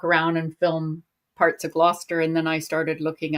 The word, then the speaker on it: Gloucester: thought I'll just walk around and film parts of Gloucester.